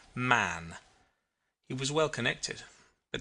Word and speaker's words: Mahon: white long beard and his name was mahon but he insisted that it should be pronounced man he was well connected